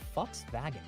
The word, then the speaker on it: Volkswagen: guys say it right Volkswagen sounds like she's saying folks wagen that's that's what it